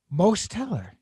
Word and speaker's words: Mosteller: very special guest most teller hello now when you pronounce your name where do you put the emphasis it's so the t is in the first syllable yep i thought it